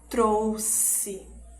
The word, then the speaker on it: trouxe: E ele vai ter o som de S duplo, né? Que é um pouquinho mais longo, como na palavra trouxe.